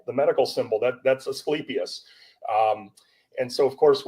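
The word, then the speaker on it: Asclepius: U but it is pronounced eskeipius. Um people will commonly know of it. It's the uh the ask with the the snake uh around it the symbol the medical symbol that that's esipius.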